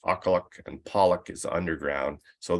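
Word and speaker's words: Aqqaluk: pits um kinetic and Main pit and that's pronounced aqualuc and Pollock is underground so those are NANA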